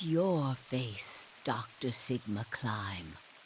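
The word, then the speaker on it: Klim: your face Dr Sigma climb it's pronounced climb I love climb my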